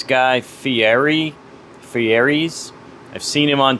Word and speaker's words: Fieri: I'm gonna mispronounce his name, so go ahead and yell at me now. I think it's Guy Fieri.